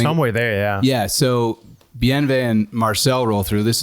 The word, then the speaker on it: Bienvenido: He says his name's Bienvenido, and I'm like, what?